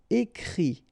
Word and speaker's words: écrit: Okay, and then the it, phonetically you pronounce i because final t is not pronounced, but still. Écrire, to write, écrit.